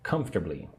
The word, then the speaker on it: comfortably: That person is resting comfortably. Check your pronunciation of the word comfortably. Right? I say it with three syllables. Comb. The middle part is strange.